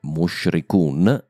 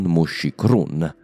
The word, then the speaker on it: Mushrikun: Inoltre, Mushrikun e non Mushikrun. Qui ho semplicemente sbagliato la prima volta e mi sono tirato dietro l'errore.